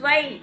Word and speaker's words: zwei: zwei. eins. eins, zwei.